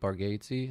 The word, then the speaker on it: Bargatze: You know who else is really funny is Nate Bargatze.